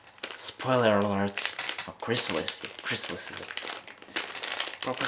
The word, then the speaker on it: Chrysalis: Yeah, Chrysalis is the proper pronunciation, but who cares at this point?